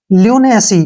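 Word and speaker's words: lunacy: तक पढ़ते हैं इसको एन ए का उच्चारण ने होगा और सी का जो उच्चारण है वह यहां पर स होगा ठीक है और वाई का जो उच्चारण है वो ई होगा लुनेसी क्या पढ़ेंगे इसको नेसी लुनेसी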